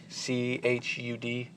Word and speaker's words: Chud: I am not 100% sure on that pronunciation, but that's what the word looks like. C-H-U-D, Chud.